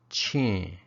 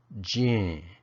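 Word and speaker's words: ချင်: combined with a verb it's pronounced Ching or gene depending on the sound of the syllable that comes before and I'll show you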